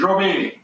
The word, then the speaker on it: Jobet: It's French. It's Robé. Oh, okay. That makes it easy. That makes it easier. Thank you. Yeah. You can swallow the T.